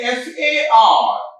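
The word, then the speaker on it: far: So in F-A-R, the sound is fa, fa, because R is silent in that. Okay? R is silent there.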